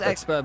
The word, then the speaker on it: Xpera: Oh, sorry, I keep pronouncing Xpera, but I'm pretty sure it's pronounced something else. I think people have told me I know off. it's expert. We've always been told expert. I've always called him expert, even to his face.